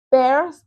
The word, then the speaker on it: Peirce: Pears se pronuncia así como P-E-R-S. Pears. No es pears, es pears.